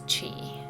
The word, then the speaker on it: Qi: This is spelled Qi, but it's spelled and pronounced, as Qi. So Qi is the energy that runs through us all,